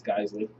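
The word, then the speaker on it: Geissele: of rails for the I really want to know how that's pronounced like actually. According to HKS, it's Guesley.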